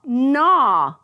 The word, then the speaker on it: gnaw: Aw, gnaw.